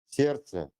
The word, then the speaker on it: сердце: The letter de is silent in complex consonant clusters. For example, праздник, сердце, поздно.